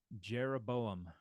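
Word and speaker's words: ירבעם: right jeroboam not Yeshua jeroboam good the uh the yod is frequently transliterated in uh in English Bibles um as a j there's no J in uh in Hebrew though all right try this one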